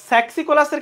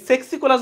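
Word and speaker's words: Saxicolous: এই সেক্সিকোলাস বলে কোনো শব্দ নাই, এটা হবে এই যে স্যাক্সিকোলাস। এটা হবে স্যাক্সি, স্যাক্স, নট সেক্স। তাহলে এটা সেক্সিকোলাস না, আসলে হবে স্যাক্সিকোলাস।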